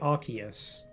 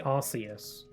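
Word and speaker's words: Arceus: Um, so, you know, certain Pokemon are a little bit hard to know how to pronounce them. Um, like Archus. Some people say Arus.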